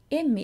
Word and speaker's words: Emmi: Emmi is pretty close to the English name Emmy, just with a longer M sound.